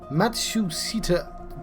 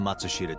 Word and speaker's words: Matsushita: is like prosecutable testimony heads to matsu matsusita dyna i've that is definitely not the correct pronunciation we're going to matsushita diner that's what yeah that